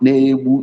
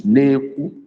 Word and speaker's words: ekwu: Elizabeth Agu is not Nebu Igwe, it's Neku. It's spelled EKWU.